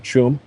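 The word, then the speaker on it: Tuam: based right in the town of chum uh and by the way that's the Gaelic pronunciation is spelled Tua M but Chum in uh in case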